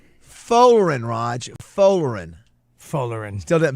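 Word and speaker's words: Folarin: How do you pronounce the first name? Folerin. Folerin, Raj.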